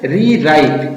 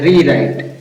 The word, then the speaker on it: rewrite: REWRITE इसको पढ़ते हैं रीराइट। क्या पढ़ते हैं? रीराइट। रीराइट मीन्स पुनः लिखो, पुनः लिखो, पुनः लिखना। अब स्पेलिंग कैसे बनी है? आर से बन गया र, और इससे ई से बन गई है यहां पर री, ये ई की मात्रा बन गई, और डब्ल्यू यहां पर साइलेंट है, और आर से